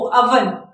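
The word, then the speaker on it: oven: जैसे ओ अवन, नॉट ओवन, अवन, right.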